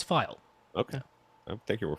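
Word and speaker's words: faille: I saw it all over the web like people saying fail and I'm like no it is it's file if you even look it up uh f a i l l e oh it's file okay I take your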